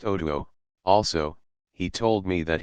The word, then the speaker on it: Otu: Otu, he told me his name was, pronounced Otuo.